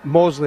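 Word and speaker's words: Moseley: Hey, just a quick one on Mosley or Mousley. How do you pronounce it? The Birmingham suburb. Mosley. Mosley, right. Just checking. But that's only because I'm a... It is Mosley, but I would just...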